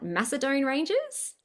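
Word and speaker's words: Macedon Ranges: I actually don't know how to pronounce that. Macedon Rangers.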